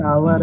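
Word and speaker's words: hour: उसका pronunciation आवर है सर। सर हाँ हाँ एच, सर एच साइलेंट। हाँ हाँ, ठीक है, सुन लिए, सुनो। एच यहाँ पे साइलेंट है, इसीलिए यहाँ पे एन लगा है।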